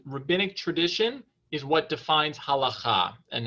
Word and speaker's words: halacha: white board next time but the word is halacha okay um here i'll just write it on